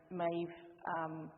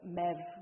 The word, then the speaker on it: Maeve: And in both, these are the two earliest surviving versions, and in both versions, Maeve, or Mev, the name is pronounced in Old Irish, but Maeve is, the